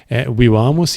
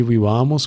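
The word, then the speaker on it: vīvāmus: E para a sílaba tônica ser a penúltima, necessariamente a vogal tem que ser longa. Então, tanto o A de vivamus como o E de amemus vão ser longos.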